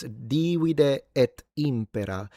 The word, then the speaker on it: divide et impera: It's divide et impera with a long phonemic vowel length at the beginning beginning. In fact, modern-day as a modern-day Italian, my natural pronunciation would be divide et impera.